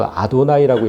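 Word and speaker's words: אֲדֹנָי: 저 아도나이라고 읽거든요. 아도나이. 들어보셨어요? 아도나이. 히브리어로 주님이란 단어예요.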